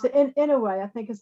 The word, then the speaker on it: Inouye: I think you pronounce it Inouye.